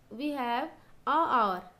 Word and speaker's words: hour: We have a hour. Here in place of a you have to write an. Okay, before, because H is silent.